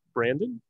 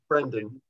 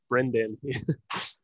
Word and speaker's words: Brendan: good friend of mine on his name is Brandon Brendan is that how you pronounce it Brendan Brendan um we've met we met at the chronic